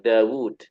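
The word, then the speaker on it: داود: Kalau Dawud dia ada huruf wawu yang nggak tertulis. Diucapin tetapi tidak tertulis. Maka bacanya kan panjang, Dawud.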